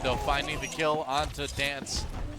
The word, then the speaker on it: DNCE: DoA though finding the kill onto Dance. DNCE, we're told it's pronounced Dance. Yeah.